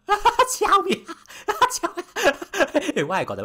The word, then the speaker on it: Xiaomi: It's Xiaomi. Xiaomi. Why I got the right to laugh at other people's pronunciation?